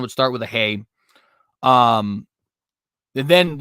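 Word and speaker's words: ה: Not an H, which would be like, I think, hey is how you pronounce it. I want to say hav. I don't know why my brain wants to say hav, but hey. That's retarded. It's definitely not a hav. Hey.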